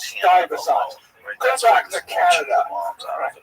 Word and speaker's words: Stuyvesant: So apparently, in my ignorance, I said Stuyvesant, which is, I guess that looks like that's how you spell it. So Stuyvesant. Saying that? I don't speak American very well. And so the guy wrote on the YouTube channel, he says, Americans know it's pronounced Stuyvesant.